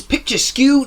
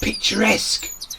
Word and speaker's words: picturesque: I'm here in England's picture skew New Forest National Park it's actually pronounced picturesque sorry let's go again I'm here in England's picture skew picturesque New Forest National Park to